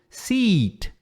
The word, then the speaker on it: seat: Quando você fizer o I longo, seat. Assento. Agora, um I curto, meio E, sit. Sit. Aí é sentar-se, ok? Então, sempre lembra de sit, seat. Longa. Pode puxar mesmo.